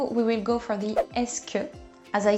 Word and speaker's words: est-ce que: bit overwhelming complicated Etc but just learn es imagine it written like this and that's all you need to pronounce it so no extra complicated